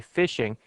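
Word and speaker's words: phishing: is called fishing uh it's spelled p i sh iing G but they say fishing and this is where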